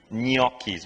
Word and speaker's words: gnocchi: Some people do say Gnocchi, but the proper way to say it, if you follow the phonetical spelling there, is ny, and then ki, gnocchis. You really have to roll. It comes from the nose.